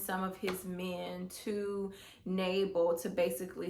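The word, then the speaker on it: Nabal: to um a man by the name of nabel um and hopefully i'm pronouncing that correctly is n a b a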